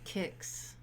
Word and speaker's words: CICS: data sets yeah but how do you say kicks kicks versus CICS kicks yeah yeah yeah yes